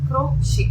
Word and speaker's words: crochet: crochet இப்படிதான் pronounce பண்ணுவாங்க.